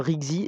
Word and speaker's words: RYKZI: Là, on est passé à Rixi, R-Y-K-Z-I.